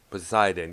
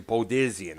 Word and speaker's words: Poseidon: the wake of poseidon poseidon yeah there you go i keep pronouncing podesian i don't know why i do that man i don't know